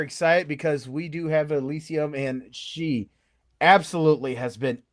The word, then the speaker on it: Elysyum: And it's pronounced Elysyum, right? Yes. Yes, I haven't butchered it.